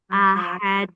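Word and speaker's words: أحد: Nah, terutama pada ha di akhir itu dibaca tipis enggak tebal. Ahad e dan tidak panjang. Aha atau ahad. Ada yang bacanya H besar dan panjang. Nah, itu kurang tepat ya.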